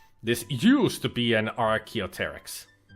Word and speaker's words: Archaeopteryx: This is an Archaeopteryx, or this used to be an Archaeopteryx. The P is silent.